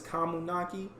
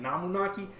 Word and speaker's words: Kamunaki: Her last name is Kamunaki. I've been saying it wrong for like the last few years. I've been saying Namunaki, I believe.